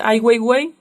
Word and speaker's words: Ai Weiwei: visto sus propuestas admin es ai weiwei suena chistoso así se pronuncia podemos ver alguna propuesta